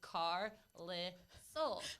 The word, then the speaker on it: Carlisle: you reading out loud c-a-r-i-s-l-e if you pronounce it if you you know if you read it out it's car lit soul how am i supposed